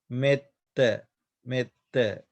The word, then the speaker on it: metta: Here the E is long vowel. But here you can see join letter. Therefore, we pronounce this a short vowel. Metta, metta.